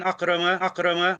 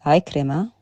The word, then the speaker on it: Ikrima: And he mentions here, what do you call it, about a hadith an Akrama. It's Ikrima. This is the start of a lot of clumsiness with the Arabic, as you'll see later.